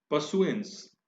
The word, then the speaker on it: pursuance: पशुएंस, पशुएंस भी नाउन है, और आप यहां पे देखें PURSUANCE, इसको हम परसुएंस नहीं बोल रहे हैं। अगर आप प्रोनाउंसिएशन देखेंगे, र यहां पर साइलेंट है और इसका प्रोनाउंसिएशन क्या होगा, परसुएंस, यानी पीछा, अनुसरण, पालन।